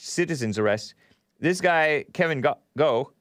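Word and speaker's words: Gough: Kevin Goh, I pronounced it Goff in the Hake News, but somebody said I think his last name is pronounced Goh, G-O-U-G-H. And I pronounced it Goff, but they say Goh.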